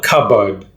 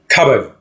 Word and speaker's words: cupboard: it's a yellow cupboard cupboard not cup board cupboard a yellow cupboard a yellow